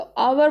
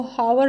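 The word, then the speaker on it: hour: हो रहे होते हैं, लेकिन इनमें एच जो है ना साइलेंट होता है। तो आवर बोलते हैं इसको, हावर नहीं बोलते हैं, जो है वो साइलेंट है।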